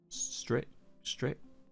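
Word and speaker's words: Strich: Yeah, call in and stritch. Stritch. Yeah, stritch. I said it right first time.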